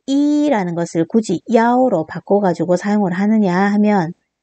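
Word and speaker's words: 幺: 그랬을 때 분별하기 위해 가지고 숫자 1은 야오로 발음을 해 가지고 대답을 하면 됩니다.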